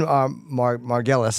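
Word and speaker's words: Margulies: It's called Andy Kaufman, The Truth, Finally, by Bob and Lynn Margulis. I guess is how you say her name? Right. Margulis?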